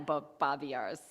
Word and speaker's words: Babiarz: back our guest speakers Charles Langley and Nina bobars I hope I'm pronouncing your last name Nina bobars now I've got both the first name and